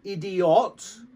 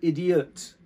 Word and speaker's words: idiot: the iot it's not idiot you don't pronounce the o ot it's idiot so it's almost like